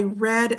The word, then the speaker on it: read: If it's talking about the past or using it in the past participle, then you pronounce it like the color red.